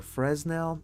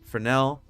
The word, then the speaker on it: Fresnel: input for now or fresnel it's for now uh but it's fun to pronounce the s because i mean why not why not go do that so uh add bernell